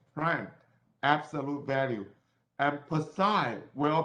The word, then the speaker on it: prime: Prime, P-R-I-M-E. Let me write it again. P-R-I-M-E. Prime. OK，有一撇的叫 prime，没有撇的叫 unprime。很多人会念成 plum，正确的念应该是 prime。OK，prime system。Laser pointer。Okay, this is prime system.